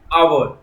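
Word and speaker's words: hour: यहां पर वर्ड्स ऐसे हैं जहां पर एच कॉन्सोनेंट से शुरू होता है परंतु उनका उच्चारण बाउल से, बाउल स्वरों से आरंभ होता है। जैसे ऑनेस्ट, ऑनरेबल, आवर, एयर, इसलिए इन शब्दों के साथ एन का प्रयोग होता है।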